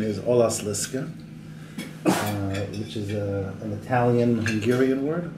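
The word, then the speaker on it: Olaszliszka: To be the proper pronunciation is Olas Liska, which is an Italian-Hungarian word.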